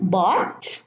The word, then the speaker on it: bought: So I'm going to read them again. Bought, no GH. Brought, silent. Fought, sought, and thought.